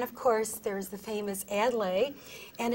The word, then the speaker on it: Adlai: Adlai. We learned we answer to most anything, yeah, and we've heard most everything. So the correct pronunciation is Adlai?